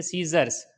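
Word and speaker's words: scissors: इसी तरीके से मसल्स, मसल्स के अंदर भी क्या हुआ है, एस के बाद सी आया है तो साइलेंट हो गया है। इसी तरीके से सीजर्स, सीजर्स मीन्स कैंची, इसके अंदर भी क्या है,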